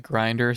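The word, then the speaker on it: Grindr: You just pronounce it like grinder.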